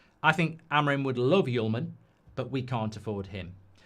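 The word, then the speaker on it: Hjulmand: Just for your attention, Hullman is pronounced Yulman.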